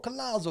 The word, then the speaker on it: Collazo: It depends how you say it. My dad is Puerto Rican, but I guess, you know, like most of us come from Spain or whatever, or Italy maybe. You say it in English, they pronounce it Collazo. Sounding Italian. Man, I can't tell you how many Italians or New Yorkers go, oh, Collazo. And I'm like, hey, forget about it. But yeah, it's Collazo.